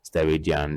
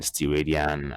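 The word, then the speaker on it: steradian: angle is steridian and now you pronounce it steridian steridian however okay s r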